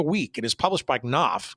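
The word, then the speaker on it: Knopf: it is published by knoff Koff sorry I never can pronounce that correctly because I always get screwed up on it it's Koff k n o PF um a long time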